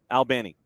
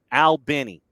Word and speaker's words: Albany: It's like you're talking to two dudes, one named Al, the other named Benny, Al Benny.